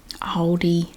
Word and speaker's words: Aldi: favorite things from aldi aldi we just take out the l and produce replace it with the w all d o d